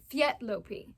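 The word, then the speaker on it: Léttlopi: first up we've got fopi which is uh did I say it right well I think we've been told it's fet lopi but it's f' been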